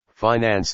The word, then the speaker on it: finance: advantage of the manager the pronunciation of this word with the i long and the accent on the first syllable is one of america's most precious discoveries and possessions flag a colored rag